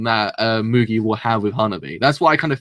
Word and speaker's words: Hanabi: Yeah, it's Hanabi. Yeah, I kind of feel like she's going to be the person to stop any single interaction that Mugi will have with Hanabi.